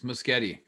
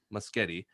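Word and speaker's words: Muschietti: andy instagram instagram andy uh and i wanna butcher the last name rob i think you say it better than i do it's musgeti musgeti the director of the flash movie uh did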